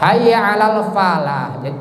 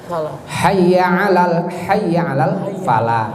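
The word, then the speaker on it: حي على الفلاح: tempelkan ke bibir atas pa-pa jadi ya beatnya Hayya Alal Falah bau-bau pakailah palanya kalau hanyalah para itu sana bacanya tidak tepat Hayya Alal Falah jadi yang keluar dari bibir dua itu pertama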